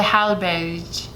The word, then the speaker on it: Hallberg: So but the G. Berg. So the G is pronounced like a J. Yeah. Hallberg.